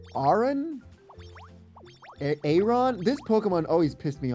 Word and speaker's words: Aron: It's like iron. So, Aaron. Aaron. Armor and iron. Aron. Like, it's going to be Aon. Like armor.